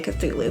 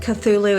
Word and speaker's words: Cthulhu: So, I mean, obviously, I'm totally a Cthulhu fan. I did hear that it's not pronounced Cthulhu, it's like Cthulhu. We're not supposed to be able to pronounce it with our human tongues anyway.